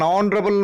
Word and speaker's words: honorable: Examples: an hour, an honorable man, an honest girl, an air. You observe very clearly. An hour, H silent. An honorable man, H silent.